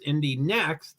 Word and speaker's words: Indy NXT: So Indy Lights, which is a perfect name, Indy Lights became Indy NXT, which was Indy Next, even though it's spelled NXT.